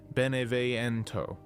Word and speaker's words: Beneviento: But where Steve performs confidence, Donna Beneviento, pronounced Beneviento, hides so completely that she needs a doll to speak for her.